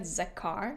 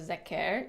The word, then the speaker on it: Zakar: So like I said Zakar, like car. You would say Zakar instead of Zeker, even though there's an E.